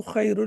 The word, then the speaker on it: خير: So here kha is heavy. وللآخرة خير لك من الأولى. And similarly, you can listen to the pronunciation, listen to the recitation, and then you can practice, especially focusing on the sound that is the kha sound over here.